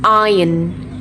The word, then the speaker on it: iron: iron island iso 3 คำนี้ไม่ได้อ่านแบบนี้นะ 3 คำนี้เวลาอ่านเป็นภาษาอังกฤษออกเสียงว่า iron island isle มาดูทีละคำกันนะคะ คำแรกอ่านว่า iron iron